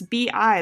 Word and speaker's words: bi: this is another letters bi they're actually pronounced B even though it looks like pie so this is a